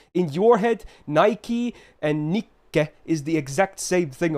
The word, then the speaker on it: Nikke: How would I say Nikke? I say Nikke. It's Nikke. Nikke. There you go. Not Nikke.